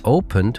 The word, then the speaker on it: opened: So it is started and decided because they end in T and D. But it is opened with a soft D sound and looked with a sharp T sound.